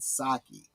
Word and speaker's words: sake: Or, of course, it would be pronounced in the American saki.